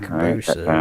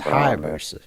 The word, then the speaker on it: Hayabusa: Patrick Hayabusa. You full of shit, man. He's Irish Catholic from Japan. Yeah, well, I don't know no fucking Eric. Fucking Patrick Cabusa. It's not Cabusa, it's Hayabusa. You've offended a lot of people by mispronouncing his name.